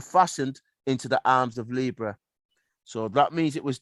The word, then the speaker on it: Libra: Listen, he said, the correct pronunciation is Libra, not Libra, not Libra. Remember to go to a library where they bear that in a library or a Libra, a library.